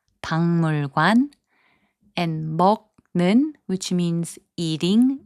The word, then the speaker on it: 박물관: 박물관, which means museum, is pronounced as 박물관.